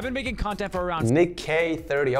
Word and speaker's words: NickEh30: making content for around Nick k30 okay that's how you say it okay I was always